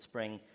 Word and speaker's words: Xspring: It's spelt with an X, but it's called Spring, which you're trying to get developers onto it.